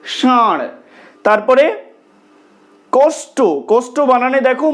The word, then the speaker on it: ষাঁড়: এখানে যে শব্দটা লেখা রয়েছে, এটা যদি আমরা মূর্ধাকে স্পর্শ করে উচ্চারণ করতে চাই, তাহলে কেমন হবে? ষাঁড়। কিন্তু আমরা কি ষাঁড় বলছি? বলছি না, তো আমরা বলছি ষাঁড়।